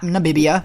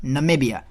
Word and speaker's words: Namibia: Not Namibia, Namibia.